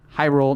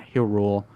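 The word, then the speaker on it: Hyrule: have come on guys it's high roll not Hill rule anyway I love the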